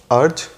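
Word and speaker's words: urge: 10th और आज इस वीडियो का फाइनल वर्ड है अर्ज। ये नाउन और वर्ब दोनों ही है। इसकी राइट प्रोनाउंसिएशन मैं दोबारा बताता हूँ, अर्ज।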